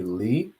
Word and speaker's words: le: instead of saying he or she, would be Li, and that's spelled L-E.